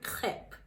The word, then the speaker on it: crêpe: A pronúncia é, mais uma vez, com o R bem puxadinho, então ele fica crepe, crepe.